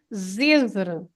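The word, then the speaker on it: Zêzere: And you see, Carl, you see why you have to stress the first syllable, because on the E, you have a acento circunflexo, that hat on the E, it makes you stress that part of the word. So that's why it's Zezer.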